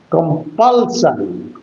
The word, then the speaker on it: compulsion: As it is a as it is a tricabic word your accent must be of second syllable. Compulsion compulsion in the on the second syllable or on the middle syllable.